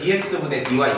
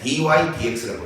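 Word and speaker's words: dy/dx: 있고요 DY ex라고 있습니다 이거를 dx분의 DY 이렇게 읽으면 안 돼요 원래 DY dx라고 읽어요 그리고 이제 여기 동그라미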